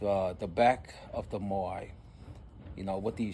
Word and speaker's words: Moai: Uh they spell it as m o a i or m o a apostrophe i. So, it can be moai or mo'ai. But, we'll just say moai cuz that's what's familiar with everybody.